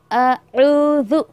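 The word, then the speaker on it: أعوذ: पहले अलिफ है, हमज़ा है, देन ग़ैन है, देन ज़ाल है। अऊज़ु, अऊज़ु बिल्लाहि मिनश्शैतानिर रजीम, मिनश्शैतानिर रजीम। और ऐसे भी नहीं आपको पढ़ना औज़ु बिल्लाहि मिनश शैतानिर रजीम।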